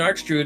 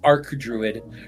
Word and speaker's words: arch druid: It's arc druid. Remember ch is not pronounced as a ch when you when you're talking about arcs. It's always a k sound.